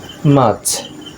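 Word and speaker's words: March: খেয়াল করুন আর এর পরে কনসোনেন্ট আছে সি, তাই আর এর উচ্চারণটি হচ্ছে না। মার্চ।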